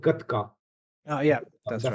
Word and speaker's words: Gatka: the Sikh martial arts is called Gatka. Oh yeah, that's That's right. the Yeah, proper pronunciation.